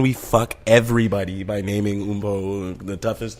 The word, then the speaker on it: Mpho: OOM-PO would be like the phonetic way of kind of spelling my first name, right?